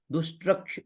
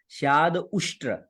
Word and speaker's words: स्याद उष्ट्र: उष्ट्र उष्ट्र है, देखिए यहाँ पे अगर उच्चारण करें स्याद उष्ट्र, यानी कि ऐसे दुष्ट्र भी पढ़ सकते हैं आप, स्याद उष्ट्र है। अब दुष्ट्र पढ़ दिया तो मामला गड़बड़ हो जाएगा, और स्याद उष्ट्र पढ़ा तो फिर वो उष्ट्र हो जाता है।